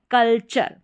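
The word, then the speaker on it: culture: तो क्या हो गया, कल और फिर चर, कल्चर।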